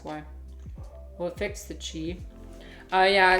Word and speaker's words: Qi: Well, it fixed the chi. Yeah, it's spelled chi, Qi.